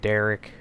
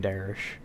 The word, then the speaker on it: Darish: Some people call him Derek. It's whatever. It's spelled with an H. We're going to call him Darish.